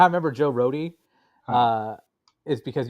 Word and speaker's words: Rohde: Well, you know how I remember Joe Rohde? Is because you pronounce it O-D, right?